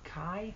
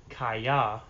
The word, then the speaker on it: Kiah: Kaya actually is the pronunciation of the proper pronunciation of this. The reason that my name is Kai, though, and not Kaya, is because all my family's from the Appalachian Mountains. You know, East Tennessee, Johnson City, Bristol, Kingsport. If you ever heard that accent, they take two syllables and make everything one.